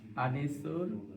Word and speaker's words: Anisur: your title just so we know how to pronounce. My name is Anisur and my title I'm the director of the Rajana City Jam.